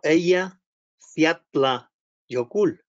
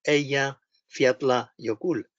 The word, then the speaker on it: Eyjafjallajökull: Al final, un vulcanólogo islandés se puso delante de nosotros y dijo Eyja Fjallajökull, y todos repitiendo Eyja Fjallajökull.